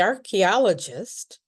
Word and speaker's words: archaeologist: So, the ch is has a k sound.